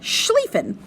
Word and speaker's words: Schlieffen: It's pronounced Schlieffen, the Schlieffen Plan.